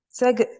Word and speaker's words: second: okay second yes yes but the C is K not G but K second second second exactly I know